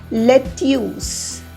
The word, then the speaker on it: lettuce: Again, if we go by the spelling, it's lettuce. Lettuce.